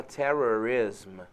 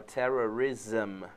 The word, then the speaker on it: terrorism: Você vê que não se fala terrorism, se fala terrorism. Todas as palavras em geral aí que tem esse SM Sim. no final, né? Você vai pronunciar zam, você não vai pronunciar ism, você vai Sim. pronunciar zam, terrorism, Enthusiasm.